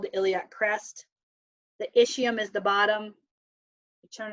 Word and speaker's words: ischium: Ilium, ischium, coccyx, and sacrum. That's how you pronounce those.